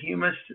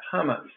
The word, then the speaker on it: humus: How humus solutions work. Spelled, pronounced humus, not hummus.